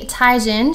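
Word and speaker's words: Teigen: The Parisian Lights Shimmering Skin Perfector, and one of the Chrissy Tiegen, she corrected everyone, that's how you say her name, it's not Tiegen, and her Endless Summer Glow Gloss.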